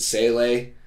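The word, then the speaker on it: Seele: There's that, the children weird translation, like the fact that everyone's got a different way of saying Nerve and Sele. That's how you say them.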